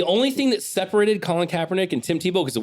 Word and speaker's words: Kaepernick: oh just as trash there's only one difference is that how you pronounce it yeah it's kaepernick i actually funny enough